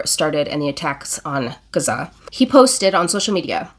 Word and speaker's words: Gaza: that it's not pronounced Gaza, it's pronounced gaza. Like, it's not we put the we put like an accent in there that doesn't actually belong there.